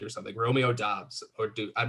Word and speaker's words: Doubs: Well, it's actually pronounced Dubs, and that's solely why I have him that high, because his name is just amazing.